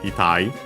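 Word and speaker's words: 痛い: which means painful, sore, accented, itai.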